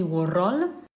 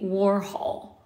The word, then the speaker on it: Warhol: No, it's not Andy Warhol. It's Andy Warhol. Warhol.